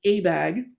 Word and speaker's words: ABAG: regional planning agency called the association of bay area government's pronounced abag in one of abag's